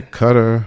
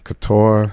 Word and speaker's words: Qatar: Every cutter couture. Yeah. And then when we were down there, we heard it said both ways.